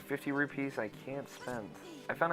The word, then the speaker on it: rupee: I found out that Ego Raptor says rubies. Because it rolls off the tongue easier. Let's be real here, guys. Rupees sounds weird. That's how it's said.